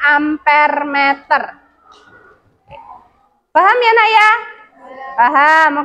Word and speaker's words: amperemeter: Ini amperemeter, bacanya ampermeter.